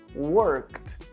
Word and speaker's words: worked: Então eu trabalhei, fica I worked. I worked. Nesse caso, a gente não pronuncia o e o d ele fica um pouco mais forte. Ele fica até com som parecido com um t.